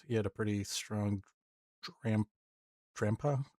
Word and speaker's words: Drampa: He had a pretty strong drampa grandpa that's how you pronounce it in the back and he had a pretty tanky null in the front.